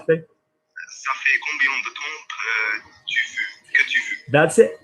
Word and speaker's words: temps: Combien de temps? We don't pronounce the P.